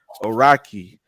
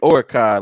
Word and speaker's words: Araki: say his name uh the correct way it's Harrison araki the kid that goes to the bush I've been calling that kid orkai like because the way it's spelled so you know like Oregon